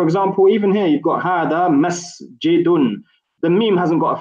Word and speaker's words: هذا: you can see the hada. There's only 3 letters here. However, we don't say hada, we say hada. This is an example where an alif is not written, however, it is pronounced.